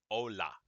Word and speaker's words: hola: ka h in spanish no this word is ola it is not hola so we have ola